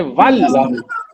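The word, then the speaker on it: وال: Hamza will not be pronounced and waw will meet lam. Waw goes to meet lam and you say wal.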